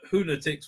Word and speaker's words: Who-natics: I previously informed the researcher that it's Who-natics rhymes with lunatics, not fanatics, right?